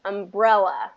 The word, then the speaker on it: umbrella: umbrella umbrella the best i didn't stress this correctly in this world okay second syllable stress umbrella and you're gonna get